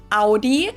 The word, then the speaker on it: Audi: The first one is Audi. Most Americans that I know pronounce it like I just said it, Audi. In German, we say Audi. Audi and there's actually a funny story as to where this name came from.